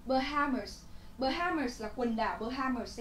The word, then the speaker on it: Bahamas: Bahamas. Bahamas là quần đảo Bahamas ấy. Nhá, trọng âm từ này là dâm tiết thứ hai, quần đảo.